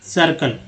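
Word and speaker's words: circle: एक और देख लीजिए सी आई आर सी एल ई, सर्कल। तो सी आई का उच्चारण जो है, सी के बाद जो आई का उच्चारण है वो अ के रूप में हो रहा है, सर्कल।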